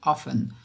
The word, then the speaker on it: often: Marx não é often, se escreve often, mas não se pronuncia often, tá, pessoal? Esse Tzinho é mudo aqui pra gente, tá? Então é often.